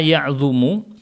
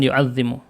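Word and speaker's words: يعزم: Baik, saya ngecek tadi yang kata ya'zumu. Betul ya, ya'zumu. Azamtu ya'zumu, bentar. Saya ngecek dulu. Azumatil umur, ya betul. Ya'zumu bacanya ya. Bukan yu'azzimu.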